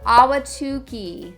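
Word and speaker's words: Ahwatukee: direct your attention to auki that's spelled a w no it's not it's spelled a h w a t u k e e tricky Now auki is really more of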